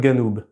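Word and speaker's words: جنوب: Toutefois, au nord de l'Égypte, on a un cas assez spécial puisque cette lettre est prononcée g. Donc janou, ça devient ganou.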